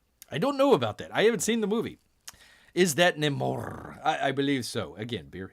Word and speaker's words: Namor: Namor with an R. You got the R, the roll your R.